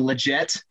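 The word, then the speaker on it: Lletget: a um a ball played over to sebastian legette as i've been told is how to pronounce his name um on the play hector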